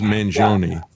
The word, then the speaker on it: Mangione: Give people your take on uh Luigi Manion, I think is the way he pronounces it. I would pronounce it as man, but I think he pronounces it as Manoni.